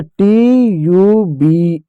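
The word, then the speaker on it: tube: इ साइलेंट हो जाएगा। यू यू हो जाएगा। और उससे पहले कस आ रहा है। टी का आधा ट लिख दो। तो आधा ट नहीं लिख सकते इसलिए हलत लगा दो। यू का यू कर दो। बी का ब कर दो हो जाएगा ट्यूब ट्यूब ठीक है प्यारे बच्चों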